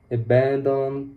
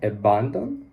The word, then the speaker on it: abandon: I don't know are there some like absorb abandon previously I could say abandon but now I know that it's abandon and it's very important these sounds are very